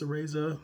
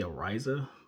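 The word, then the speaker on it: Araiza: to say his name i believe it's a razer it may be a riser but um we'll go to the razer for now that's how i've heard most people pronouncing it um well most people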